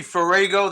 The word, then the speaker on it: Farrago: so it's close enough it's usually forego that's how i pronounce it like virago farago i've heard everything all